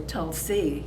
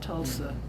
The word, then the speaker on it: Tulsa: So, and then Tulsa, he used to say Tulsi, not Tulsa. So that's the way that I guess it used to be, Tulsi.